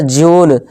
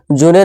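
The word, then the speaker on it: June: इस तरह जून, जूने नहीं जून, ये हमारा साइलेंट है।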